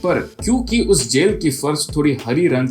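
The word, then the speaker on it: Coffey: जिसका नाम है John कॉफी। Yes, sir, boss. Like to drink, only not spelled the same.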